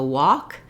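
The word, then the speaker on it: wok: to know is that the cooking pot the walk has the same pronunciation as this taking a walk so I took a walk to go by a walk same pronunciation the IPA for those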